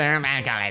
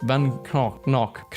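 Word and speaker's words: Van Gogh: People say van go is go. It's not. Well, actually, British people pronounce it go and American people pronounce it go.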